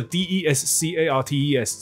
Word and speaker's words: Descartes: 是个比较蠢的学生。哇，可是他 EQ 很好，然后他也非常的、很会交朋友，所以反正还是当上总统了嘛。好，所以他说，Phil，他是个 C student，你跟他好、哦。然后这个女生还懂得开玩笑。我们又没有在讨论笛卡尔，所以这个 D E S C A R T E S 这个名字。他的发音很有趣，因为他是法国人，他的 S 跟 S 都不发音，里面有两个 S，所以他的发音我有去 check 一下，就是 Descartes，OK，、okay?